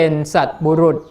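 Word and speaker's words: สัตบุรุษ: กับ ท่าน ผู้ เป็น สัตว์ บุรุษ คำ นี้ ต้อง อ่าน ว่า สัตว์ บุรุษ อยู่ ใกล้ คน ดี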